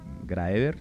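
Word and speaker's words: Graeber: utopía de las normas de grever se pronuncia así en castellano que habla sobre todo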